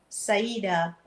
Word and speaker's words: Saajida: And if you want to follow me on my Facebook page, you go to Empress Saajida.